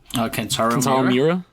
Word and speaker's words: Kentaro Miura: How'd you pronounce it? Kentaro Miura.